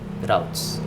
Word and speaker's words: routes: So for the pages, we have a home page because we don't have any other subroutes or nested routes. Okay, I should pronounce it as routes.